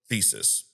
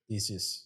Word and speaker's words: Theseus: He introduces um a a logic paradox the ship of Theseus or some Theseus. Theseus. Yeah, I realized I was saying it wrong, Theseus.